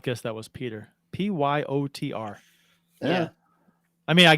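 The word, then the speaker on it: Pyotr: would have never guessed Peter Oh What It Is What It Is occurred the O is silent and the E is non-existent right and the Y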